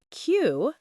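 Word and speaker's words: queue: Cue, pronounced like cue, means to line up in order.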